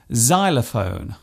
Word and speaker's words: xylophone: It often starts a word by being pronounced as zed, such as in xylophone and xenophobia.